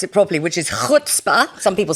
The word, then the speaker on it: chutzpah: And there's a word in Yiddish, and I can pronounce it properly, which is chutzpah. Some people say chutzpah, but that's not how you pronounce it.